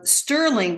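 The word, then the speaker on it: Stirling: was called oh gosh uh Sterling but it's spelled with an i it's s-t-i-r-l-i-n-g and it's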